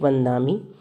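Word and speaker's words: वंदामि: अभी आपने दो एग्जाम्पल देखे, एक वंदामी, वंदामी यानी कि ये न साउंड कर रहा है।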